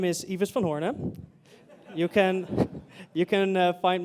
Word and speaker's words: Ives van Hoorne: of animations in here so my name is evas von horne you can you can find me under the